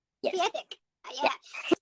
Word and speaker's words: kwiatek: Kwiatek. Did I say it right? Yes. Kwiatek.